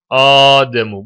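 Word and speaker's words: آدم: kelimesi gayri munsarif olmaktadır kelimenin Aslı emu eem iki tane Hemze var başta birincisi fethalı ikincisi sakin emu diye okunuyor daha sonra ikinci Hemze haf edilerek gizli met harfine dönüşüyor ademu Bu yüzden a uzatmaktadır gizli met harfi vardır ve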